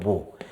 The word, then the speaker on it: mho: 그래서 우리 는 옴 기호 를 이렇게 뒤집어서 'mho' 라고 읽습니다 . 모 . 'mho' 라고 하는데 , 철자 는 M-H-O 입니다 .